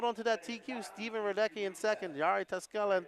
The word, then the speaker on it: Radecki: Peter Radecki, should be pronounced Radecki. Radecki. Uh-oh, what happened up there?